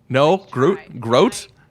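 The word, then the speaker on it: Grodt: one and only Groot. hello. Hi. I did pronounce your last name correct, right? You did not. No? I Groot? tried. Groat? It rhymes with boat.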